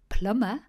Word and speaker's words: plumber: Plumber has a silent B in there because it comes from the Roman Latin word plumbum, meaning lead piping, used by plumbers.